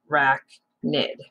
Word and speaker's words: arachnid: so she could weave forever and that says arachnid which means spider and that's how you pronounce it uh rack nid now we're going to look at a spider's